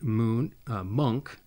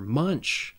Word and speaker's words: Munch: We have Edvard Munch, perhaps, a Norwegian expressionist painter. Or Munch, there we go. Edvard Munch, I said it wrong.